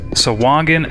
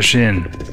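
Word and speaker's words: Sahuagin: Wizards of the Coast their pronunciation list it's swagan and with a hard G not with a J I think I was maybe pronouncing it sain I guess what's interesting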